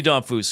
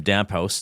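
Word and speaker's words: Damphousse: Vinny Damphus, who I liked as a player, and it was always fun to say his name Damphouse to mispronounce it.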